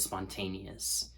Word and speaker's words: spontaneous: The second syllable, the stress syllable, is bolded.